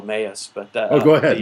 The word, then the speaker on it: Emmaus: apparently the pronunciation of Emmaus does not come come out right if you are a Hispanic speaker it comes out like a mouse so no one got